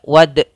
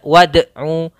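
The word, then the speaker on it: وَادْعُوا: wad sama mantulnya tidak wad tidak ada tambahan Hamzah tidak Wadu tapi dia wad Wadu wad Ain bertemu dengan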